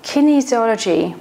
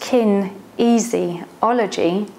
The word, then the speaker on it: kinesiology: and how it works kinesiology pronounced kin easy ology is essentially the study